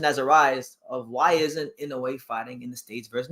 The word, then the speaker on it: Inoue: Inoue. Oh yeah, Naoya. Is how you pronounce his first name?